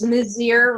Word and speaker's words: Mizeur: So it's Mizeur rhymes with volunteer. Great, perfect. So our speaker, Heather Mizeur, is running, as you know, for the first district in Maryland congressional race against Andy Harris.